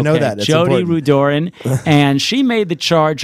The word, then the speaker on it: Rudoren: Let me correct you. Rudoren. See, we were wondering about your pronunciation. No. I clarified We're all in wrong, advance. and you're right. No, she's right. I'm not right. It's Jodi Rudoren. Rudoren. You got to know that.